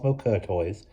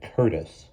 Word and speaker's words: Courtois: Eunice Doom, or the person supposed to be meeting Cosmo Courtois, she pronounced it wrong, because he had showed her his passport in spite of the fact that he had clearly said Curtis.